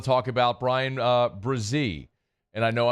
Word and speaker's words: Bresee: brazee and I know I'm going to be very deliberate in pronouncing his last name for a while until I get it it just rolls off the tongue because we've been saying Breezy for so long tip of the cap